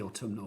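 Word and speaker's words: autumnal: I love it when you say autuminal because you add that extra syllable, don't you?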